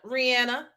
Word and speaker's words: Rihanna: And baby, now that Rihanna has won the Super Bowl, yes, Rihanna won the Super Bowl, okay?